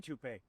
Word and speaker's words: Toop: Uh Maybe Toopay. Could be Toopay. Yeah, I don't know. Or Toop Insurance? Maybe. No, I don't think so. Say it right. That's t o o p. That's Toop. Oh, if it's Toop.